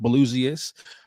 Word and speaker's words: Blusiast: So that's pronounced Blusiast on IG.